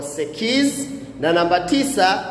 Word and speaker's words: sekiz: Namba nane utamkwa sekiz.